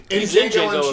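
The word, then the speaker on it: Django: wonder oral oh okay Jango and chain he's the one that like that sits at the bar and he goes what's your name he goes Jango it's uh the D is silent he goes I know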